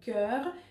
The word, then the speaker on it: cœur: Но нет, там произносятся два разных слова. Don't want ton cœur.